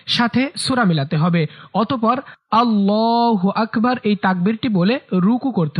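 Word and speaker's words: الله أكبر: অনেকে আল্লাহু আকবার বলে, এটা ভুল উচ্চারণ। সঠিক উচ্চারণ হচ্ছে আল্লাহু আকবার, আল্লাহু আকবার।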